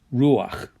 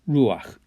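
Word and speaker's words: רוּחַ: your second consonant but because it's a guttural it likes to have that a sound so this becomes ruach it's again just to help you pronounce that guttural ruach and this is called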